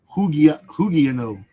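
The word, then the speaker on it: ὑγιαίνω: And that word for sound in the Greek is hugiano. That's where they pronounce these things. It sounds like hygiano, right?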